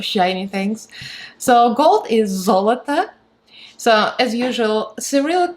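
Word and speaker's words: золото: So gold is zolota. So as usual, Cyrillic spelling is going to be here, and the pronunciation phonetic in English is going to be below.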